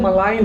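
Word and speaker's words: malign: जो third word है यह मलाइन है इधर पे जी साइलेंट है मगर प्रोनंसिएशन बहुत जनों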